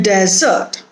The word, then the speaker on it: desert: were lost in a desert here the stress is on the first syllable they were lost in